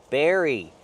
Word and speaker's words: berry: Berry. Use the sound air like chair and hair. Bear. Berry. Strawberry.